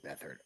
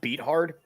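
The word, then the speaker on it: Beathard: bethard and Joe flacko CJ bethard I think this name is pronounced beat hard Gardner msho and Jake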